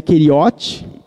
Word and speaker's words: Keriote: Keriote é uma palavra hebraica que, para nós, a pronúncia nossa seria Keriote, que na verdade era uma cidade.